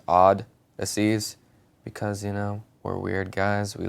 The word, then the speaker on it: Oddysseys: It's the way that Odysseys is spelled, like normally, but with an extra D. So it's Odd-Asseys, because we're weird guys.